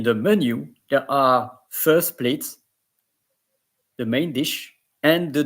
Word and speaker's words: plat: Because if you are pronouncing plat, it's as if there is an E behind the T. But here there is no E, so the T is silent.